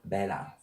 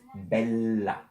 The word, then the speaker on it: bella: You must, not you have, you must pronounce the double. Because we read what we see. So this word, it's not bella, it's bella. This is not mama, it's mamma. And this is not pizza, it's pizza.